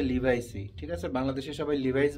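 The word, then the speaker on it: Levi's: আজকে আমরা লিভাইস pant যেটাকে অনেকে লেভিস টেবিস বিভিন্ন রকমের ডং ডটং করে অনেক উচ্চারণ করেন। মনে করেন যে লিভাইস ঠিক আছে?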